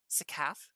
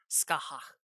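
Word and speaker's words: Scáthach: Well, So if you want to go with the anglicized version of how to pronounce her name, it's Sakaf. Sakat. But Irish, like that. the actual like Irish pronunciation is Skaha.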